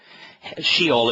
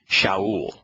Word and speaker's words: Sheol: But that place is not a man, which means that that pronunciation of these letters is improper. So it has to be Shaul.